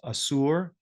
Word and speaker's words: Ashur: Assyria, in Aramaic documents, the name Asur or Ashur, pronounced Asur, generally written as Asur, could also appear as Sur, written SR.